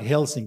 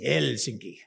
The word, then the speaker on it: Helsinki: name is and they always pronounce their first vowel so it's not helsing it's helsinki okay so my name